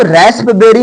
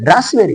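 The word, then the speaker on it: raspberry: होगा भजन या प्रवचन इसको रसबेरी नहीं होता है रसबेरी रसबेरी रसबेरी मतलब ये यहां प साइलेंट रहेगा और पी को बिल्कुल नहीं बोलना है सा को बहुत कम आवाज में रावेरी गिव मी रावेरी हेलो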